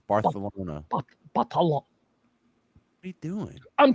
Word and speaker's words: Barcelona: Yiddish or or French it's bartholona it's just the th instead of a c Barcelona what are you doing